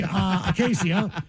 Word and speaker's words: Acacia: Happy 20th birthday, Acacia, pronounced like acacia tree.